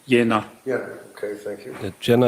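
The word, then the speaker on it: Jena: Kupka who is the managing director of Aera Medicals A V A T E R A medical in Jenna J E N A German yeah it's pronounced Yenna Jenna okay thank you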